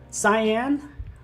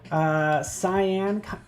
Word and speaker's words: cyan: Cyan, I think it's cyan. It's not like cayenne pepper.